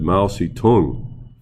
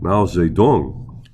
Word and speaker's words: Mao Zedong: always said it wrong we always said mousy tung i don't know if it was the way giles dictionary or the pinyin dictionary i don't remember i don't know it was richard nixon in 1972. but i always say it wrong it's mousy mao zedong see there's the old